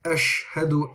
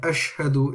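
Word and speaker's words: أشهد: much fuller sound so when you say ash hadu ash hadu is different she she is very light but ash hadu is is fuller so this is something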